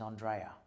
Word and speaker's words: Andrea: Well, my actual last name is Andrea, as in, the best way to explain it to someone is Andrea Bocelli, because it sounds cooler when you say it like that.